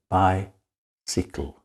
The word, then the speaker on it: bicycle: give you an example the word by sickle by in the first syllable by you have the long i sound by in the second syllable see the y is short you don't say sigh you say si we say by sikl well unfortunately if you